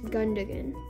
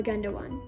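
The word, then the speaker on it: Gündoğan: I'm pretty sure that's Gundogan or Gundogan. You can pronounce it either way.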